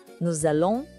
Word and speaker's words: nous allons: Nous allons partir. Houve essa ligação? O S da palavra nous se junta com o A de allons. E isso cria um som de Z. Fica nous allons partir.